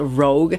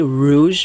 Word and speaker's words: Rogue: 2013 she released Rogue yes I know it's pronounced Rogue I like to say Rouge because I like to be sarcastic but I